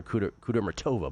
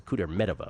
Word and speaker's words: Kudermetova: I have for years called her Kudermetova, but it's a Kudermetova, apparently. Yeah. So it's Gracheva as a big dog against Kudermetova.